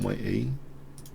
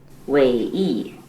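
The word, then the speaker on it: Wei Yi: I don't think the pronunciation is that difficult on Wei E. Wei E. Yeah, just Wei E.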